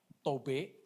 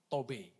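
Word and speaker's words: טוב: ini dari kata Ibrani tobe tobe jadi urutan yang keempat itu cara membacanya gu ya tobe jadi kata ibraninya itu t o WB itu tob gitu ya tapi dibacanya tobe ya itu cantik tadi ya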